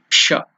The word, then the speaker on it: ष: By pronouncing it, you have to touch the upper region of the mouth.